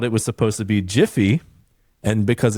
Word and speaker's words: GIF: And so like he came he came out and he's like it's pronounced Jif, not GIF.